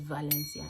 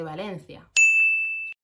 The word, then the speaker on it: Valencia: Nobody says Valencia, especially if you go to Valencia. They say Valencia. They don't pronounce V's. It's like a mixture of V and B.